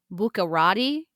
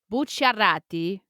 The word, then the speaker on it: Bucciarati: So in English, you can pronounce that last name as Buccarati, Okay. but you would sound like a huge manja cake if you said it that way. So Okay. Bucciarati is how I would Cool.